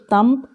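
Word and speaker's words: thumb: Next one तम, यहाँ ध्यान दीजिए ये तम नहीं है, बी साइलेंट है, शब्द नहीं आएगा, इसलिए तम। तो देखेंगे सम, लैम्प, डंप, प्लम, यहाँ हो गया सम, प्लम, तम।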